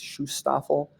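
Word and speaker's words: Schutzstaffel: the ss or the shustoffel i think it's shustaffel that's how you say it um they they wore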